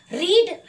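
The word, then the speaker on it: read: रीड। अब रीड का तो फर्स्ट फॉर्म भी रीड होता है, सेकंड फॉर्म भी रेड होता है, थर्ड फॉर्म भी रेड, यानी स्पेलिंग तो सेम है, तो हम कैसे जाने के कौन सा टेंस है?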